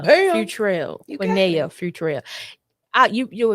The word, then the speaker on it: Futrell: Okay, give me the pronunciation one more time. Quinea. Quiniana Bam. Futrell.